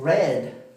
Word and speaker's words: read: El pasado de read es red, ¿okay? Se escribe igual, pero se pronuncia diferente.